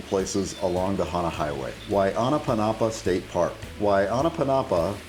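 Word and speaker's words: Waiʻānapanapa: Why Anapa Panapa State Park. Why Anapa Panapa, pronounced why Anna Panapa means glistening water or shimmering water in Hawaiian.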